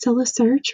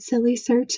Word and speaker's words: Sylla Search: So this front screen says Sylla Search, rhyming with syllable fun and fairies. I said silly search initially and got a good laugh out of her, and she enjoyed that part.